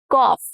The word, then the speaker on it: cough: Cough. Cough. The ug cluster has multiple pronunciations. And here it is the off sound.